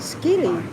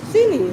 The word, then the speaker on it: Scilly: from Isles of Skilly. Eyes of Scilly, Silly. not Skilly. Isle of Scilly. They're like up Scotland way. Sounds silly. Sound pronounce like silly.